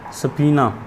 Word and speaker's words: subpoena: obedience to a SUBPOENA सफ़ीना। बता ये लफ्ज़, इसको सफ़ीना जो डिक्शनरी ने बताया मीनिंग, वो जो प्रोनाउंसिएशन बताई वो भी सफ़ीना की तरह की है, और इसका मतलब होता